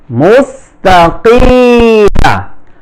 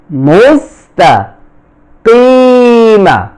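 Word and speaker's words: مستقيم: Jerry মিম জবর মা মুস্তাকিমা মুস্তা মুস্তাকিমা এখানে অনেক উচ্চারণ করতে বলে এটা ভুল উচ্চারণ মুস্তাকিম এখানে ওয়াকফা করলে জজম হবে তিন আলিফ টান হবে সিরাতাল মুস্তাকিম সিরাতাল মুস্তাকিম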